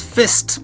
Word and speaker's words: FYST: It is FYST, otherwise known as Fist, but spelled with a Y.